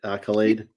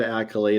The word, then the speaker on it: Akylade: I am doing great did I pronounce it right Accolade you did Accolade is correct well when I was